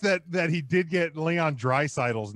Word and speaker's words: Draisaitl: Well, I am impressed that he did get Leon Draisaitl's name pronounced correctly. He practiced it while he was giving the. Draisaitl.